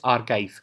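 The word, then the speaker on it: arXiv: let us see the next topic which is archive so you may be seeing that this is a rxivrxif but x is being pronounced here as key so that it this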